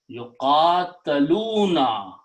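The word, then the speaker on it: يُقَاتَلُونَ: So now the word became yuqataluna. This became passive. Make sure that we pronounce the Quran correctly, otherwise the meaning changes just by the sound of fatah and kasra. So yuqataluna means they were fought to.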